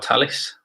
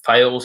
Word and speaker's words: Thales: This is being provided by by Thales or Thales, if you want to call it that. It depends on where you come from, how you pronounce it.